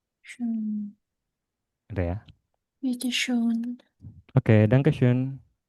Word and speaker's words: schön: O umlaut tadi bacanya Schön. EO. Schön.